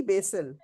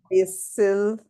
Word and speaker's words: basil: plant is the holy basil. Okay. It's Devi. yes. Yeah, I totally forgot. Let me see the exact pronunciation. It's basil. Basil. Basil. Basil. It's not basil. It's basil. Yeah, basil. I know.